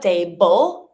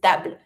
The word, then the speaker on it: table: So it's not table, it's table.